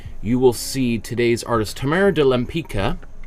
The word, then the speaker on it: Tamara de Lempicka: will see today's artist Tamara de lempica or I've heard it pronounced even though I was just watching an interview with her great granddaughter who pronounced it like that Tamara de limpica I the it was